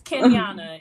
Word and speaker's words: Kenyanna: names i understand it's kenyana it's exactly how it's spelled ken miana okay perfect